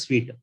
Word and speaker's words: suite: it is the sorry this word is pronounced as sweet right okay now there are